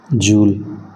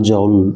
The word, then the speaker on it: joule: Remember, this is not joule, this is joule. It is a person name, So don't mispronounce it. You should not disrespect people, that to a person with that much contribution. So it is joule.